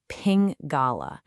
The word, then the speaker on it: Pingala: We say it like Pingala.